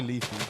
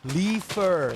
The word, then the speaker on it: Leafer: Hey, Leafier. Is that how you say it now? Because I just say Leafy. I feel like that's disrespectful to you. How do you do? Leafer. There you go.